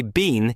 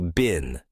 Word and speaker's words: been: That's why been is so useful. And remember, don't worry about pronunciation too much. Some people say been, some say bin. Both are okay depending on accent.